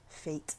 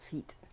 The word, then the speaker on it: fete: Fate, not feet. Yeah, the pronunciation is different depending on where and when. Right. I just keep mixing it up with the other fates and feats, Yep. which have different think- definitions. The main pronunciations are fate, feet, and fet.